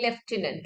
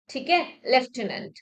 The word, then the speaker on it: lieutenant: the spellings for example we know the word leftenant okay but the spelling is not like such